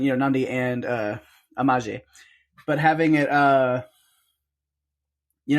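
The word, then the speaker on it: Amahle: Travis walks up to amaje which yes I'm saying I know it's spelled with an L but she pronounced it with a J and I'm going with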